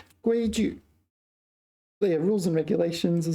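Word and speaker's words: 规矩: So this is third tone, but you pronounce it neutral tone. So 规矩. 规矩.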